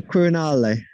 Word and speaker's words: Quirinale: And tell me again how you pronounce the name of it. The Quirinale.